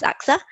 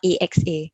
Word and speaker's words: AXA: okay first up so contrary to popular belief axa is actually not an acronym okay uh there may be some companies that are pronounced by the alphabets itself but we are pronounced as aksa and not axa so next time when you see the aksar logo and someone says axa feel free to let them know the right way of pronunciation so also fun fact